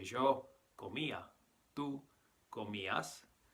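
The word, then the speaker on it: comías: stem c om and it's very important here to stress the eye because you'll notice that the eye is accented so we have to stress that and make it its own syllable so we say yo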